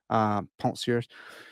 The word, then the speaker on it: Pensées: I'll pronounce the second French word, but not the first one correctly. Pensées.